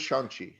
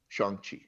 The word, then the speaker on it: Shang-Chi: The way that Simu Liu pronounces it means sweet smelling air, air that smells good, Shang-Chi. And he's very specific about Shang, pronouncing it that way.